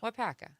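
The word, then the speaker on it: Waupaca: Is it Wapaka? Are you asking if that's what it says or if that's how it's pronounced? Is that how it's pronounced? Wapaka. Wapaka. Yeah. Okay.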